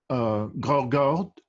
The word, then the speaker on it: Graugaard: And Graugaard. Graugaard. Yeah. Graugaard. Okay. Yeah. The D is silent.